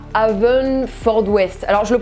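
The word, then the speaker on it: Haverfordwest: christian bale il est né en 1974 à avesnes fort d'ouest alors je le prononce peut-être très mal donc on va laisser google le prononcer maintenant à feu une ford wes merci google alors christian bale en plus de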